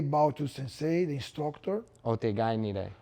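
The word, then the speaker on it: otagai ni rei: Otegai nire. Otagai nire, everybody together. Okay. Together. Yeah. And more the pronunciation.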